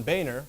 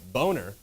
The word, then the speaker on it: Boehner: offense accusing house speaker john boehner or from the way it's spelt boner for crying too much